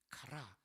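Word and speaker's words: χαρά: 기쁨이죠 기자의 즐거울 자죠 헬라어로는 카라입니다 카라 또 걸그룹 카라를 떠올리는 분들이 있을 텐데 알파벳이 바릅니다 걸구 카라는 K 아고이 희락의 카라는 CH 발음이라 걸 여러분 기억해 주시기 바랍니다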